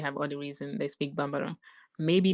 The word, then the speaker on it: Bambara: am I pronouncing it properly? Bambara? Like, how do you spell that? Yes. Yes. Bambara. Okay, Bambara.